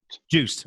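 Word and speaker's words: Joost: involved in the internet startup uh is it pronounced us or Juiced Juiced okay and you were head of yes platform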